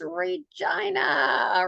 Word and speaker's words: Regina: But that's, we help people through that little problem by saying that, we live in this city that rhymes with fun. They're right. Okay, it's Regina.